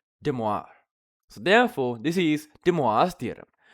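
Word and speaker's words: De Moivre: I pronounce this incorrectly, would be pronounced as De Moi Vr, which if you put it together would be Demoir.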